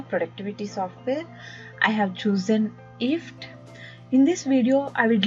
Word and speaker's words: IFTTT: if this then that you can pronounce if fttt as gift without G init if if is both a